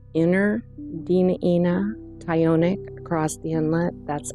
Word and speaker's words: Dena'ina: A lot of times um locally everyone hears it pronounced Dena'ina, but the true pronunciation is Dena'ina. Dena'ina.